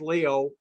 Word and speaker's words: Lyot: when this big impact, it's called the LYOT or Leo, it's French, so it's pronounced Leo, and impact, and it's